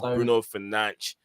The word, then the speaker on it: Bruno Fernandes: It's Bruno Fernandes. Yeah, Bruno Fernandes. I've known the right pronunciation for a while.